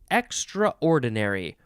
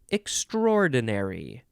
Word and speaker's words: extraordinary: three this synonym is extraordinary or would you like to say extraordinary either one is fine extraordinary just sort of